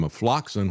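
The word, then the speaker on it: ofloxacin: They gave him afloxacin, which rhymes with toxin, and that was a horrific situation.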